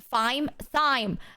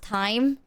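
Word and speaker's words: thyme: i a bread delicious it's pronounced time then why if it's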